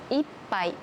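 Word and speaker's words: 一杯: 違いが分かりましたか ? 1 つ目はいっぱい。 2 つ目は 1 杯。 1 杯。 1 杯。この 2 つ描いた時は同じひがですね。でも意味が全然違います。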